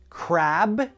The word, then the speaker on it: crab: The B is what we call a voiced sound.